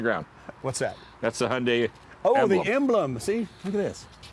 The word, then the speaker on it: Hyundai: name of the car, it rhymes with Sunday. Always. Hyundai, Hyundai. like Sunday.